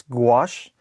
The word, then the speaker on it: gouache: lot of like uh just uh watercolor and gouache for anybody who's ever tried to pronounce that word this is your chance to now remember it it's gouache g o u a c h e um